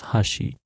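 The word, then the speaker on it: はし: this the blue word written in hiragana pronounced as Hashi it has at least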